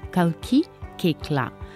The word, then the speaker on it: Kalki Koechlin: a little funny but there is only one correct way it's Kalki Koechlin that's a DNA Kalki